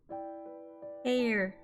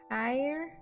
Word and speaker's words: heir: I hate this word air higher hey it's not pronounced like higher like like when you hire something but I can't [